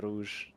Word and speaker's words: Rouge: They Thomas are fuck up here with the car, spun again in EA Rogue.